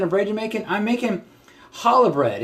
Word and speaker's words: challah: 72 what kind of reg making I'm making challah bread it's kala is the actual pronunciation it's an egg bread a traditional Jewish